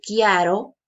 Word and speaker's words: chiaro: Aquí tengo otra, chiaro, ¿sí? Pero pronuncio chiaro y significa Claro, en Italia.